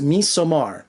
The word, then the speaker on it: Midsommar: And I know we call it Midsummer, but I looked up the Swedish kind of pronunciation, and the D is silent. At least that's what Google says. So it's Midsommar.